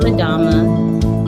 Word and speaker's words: Adama: a dominant if the it's a with that you pronounce it without the n and she's going to end herself in her business so hello everyone i'm adama and i am the